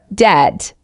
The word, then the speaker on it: debt: born in February four debt don't pronounce the B gives debt example he is in debt because of student loans five salmon silent L gives CSM bin.